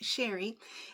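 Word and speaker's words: Cheri: That's c h e r i, but it's still pronounced Sheri and she does a lot of unboxings as well as purse sales as well.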